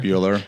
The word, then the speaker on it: Buehler: Bueller, I think Bueller in the movie is Buell, and he sells it Beh. There's an H in his Bueller. Yeah, I think so. But it's a little bit different. But it sounds the same. Sounds the same, yeah. It's pronounced the same.